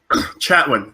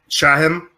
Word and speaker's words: Chatwin: scenes was the guy who plays Grant cannot pronounce his last name for some reason right now. Chatwin. Justin Chatwin. Chatwin. There we go. I kept on wanting to say Chatham because I just got done living in an area called Chatham.